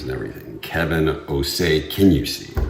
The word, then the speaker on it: O'Shea: It's not O'Shea, it's O'Say.